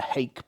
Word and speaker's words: hake: It's I think we call it a Hake brush, H-A-K-E, but I believe it's I think it originated probably in China, and I think it's pronounced Hokey Brush.